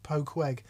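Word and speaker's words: Poquoson: Good try on the pronunciation. It's pronounced Poqueg. I knew that because I read the last line first.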